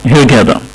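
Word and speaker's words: Hurghada: من ضمن الاصوات الانجليزية صوت الغين يعني، وبالتالي بننطق مدينة الغرداء هيرجادا، ماشي يا هيرجادا.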